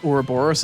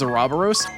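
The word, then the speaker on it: Ouroboros: You can't unhear how they pronounced Oraoros as aaros.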